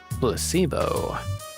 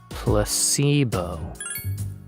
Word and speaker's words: placebo: to our vocabulary today repeat after me placebo the stress is on the middle syllable placebo splendid it's so charming